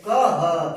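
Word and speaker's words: कः: ठीक है, तो इसको विसर्ग को बोलते ही है ह। क्या बोलते हैं? ह। इसका उच्चारण ह के रूप में करते हैं। तो जैसे लिखा होता है, देखो क, 2 विसर्ग लग जाता है तो बोलते हैं कह।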